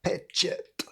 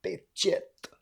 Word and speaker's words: pečeť: Next up, Studenská pečeť. Studenská pečeť. Very difficult pronunciation. Not the Studenská part, that's fine. Most foreigners can handle that. But the second word, it's the CH check followed by a t.